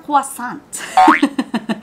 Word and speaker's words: croissant: And, meron din silang croissant. Ganun daw yung tamang pronunciation.